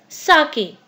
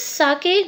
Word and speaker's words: sake: Here you might have noticed this is not sake, this is sake. Sa is pronounced like fa in father and k rhymes with way. So this is sake, not sake.